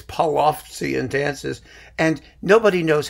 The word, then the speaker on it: Polovtsian: Because no one really knows how the Polovetsian, it's Polovtsian, actually. But, you know, it usually comes out sounding like Polovetsian.